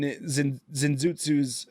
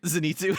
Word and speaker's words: Zenitsu: In Zenzootsu's, I keep saying his name wrong. Zenitsu. But Zenitsu. That's how much we care about the character.